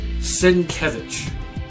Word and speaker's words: Sienkiewicz: Okay, now here's another one that's a little hard to pronounce. Bill Sienkiewicz.